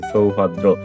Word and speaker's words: সৌভদ্র: দন্ত স এর উচ্চারণ যেহেতু বলেই দিয়েছি যে ছয়ের মতো উচ্চারণ করতে হবে, তো আমি এখানে দেখো যে দন্ত স্বর পরিবর্তে স লিখে দিয়েছি, সৌভদ্র।